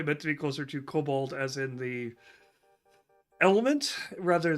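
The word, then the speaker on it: COBOL: two different routes um you're pronouncing it Cobalt well it it it is cobal that's it's c o b o l it is cobal it's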